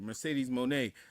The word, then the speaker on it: Mercedes Moné: Tony and all right, I'll say it right, Mercedes Moné.